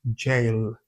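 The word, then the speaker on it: gaol: Even though it looks like something you could have called maybe G or whatever, it's pronounced jail.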